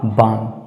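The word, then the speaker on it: balm: तो L silent होगा इसका सही उच्चारण होगा बाम बाम आगे है एच ए एल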